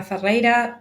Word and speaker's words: Ferreira: again um I'm fera don't worry if you're gonna pronounce my my surname sorry Double R is kind of impossible for English speaking people I don't know why